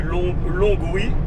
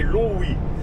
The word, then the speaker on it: Longwy: Tu m'as envoyé la bonne info et ben écoute, ben maintenant je ne dirai plus Longwy, je dirai Longwy. C'est un G muet, voilà.